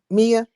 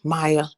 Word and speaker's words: Maya: Mia, I say your name wrong. Maya, are you there?